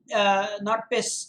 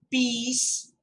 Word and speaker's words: peace: Also, important pronunciations: philosophy, radiate, not piss, it's peace.